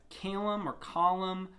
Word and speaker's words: Kalam: Well, the easiest way to start understanding the concept of where would God have come from is what's called the Calum cosmological argument. It's spelled Kalam.